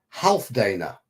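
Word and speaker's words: Healfdane: is spelled b-a-b-e-o-w or half Dana which is which is spelled h e a l f d a n e you pronounce the e at the end as uh on all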